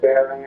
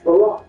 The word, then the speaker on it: Barack: Oh, that could definitely be arranged if you're being serious about it, Baron. It's Barack. Why do you keep mispronouncing my name?